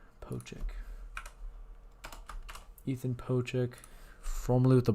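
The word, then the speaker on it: Pocic: Ethan Oh, not Doic. Pochic.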